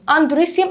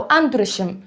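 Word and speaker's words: androecium: الاستيمن بسميه اندوريسي اندوريسيوم ممكن يا جماعه تتنطق بنطقين اندريسيوم او اندريشم نفس الكلام هنا جونشم او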